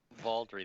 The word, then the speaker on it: Valdry: Is that how you pronounce it? Valdry? Valdry, that is correct.